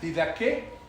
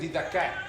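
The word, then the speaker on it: διδαχή: tenemos se dice la transliteración sería didaque pero realmente en griego la ortografía fonética es didak didak no que significa doctrina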